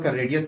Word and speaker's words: chord: देखिए ये यहाँ पर ना जो एच है वो साइलेंट है, ठीक है, इसे कॉर्ड पढ़ेंगे, चौड़ मत पढ़िएगा, ये प्रोनाउंसिएशन तो बड़ी भद्दा लगता है।